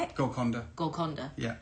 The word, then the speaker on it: Golconda: Golconda. Golconda. Yeah. It's like a python. Anaconda.